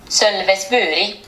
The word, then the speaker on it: Sölvesborg: let's hear that, because I know I'm not pronouncing it right. I gotta hear it. Sølvesburi.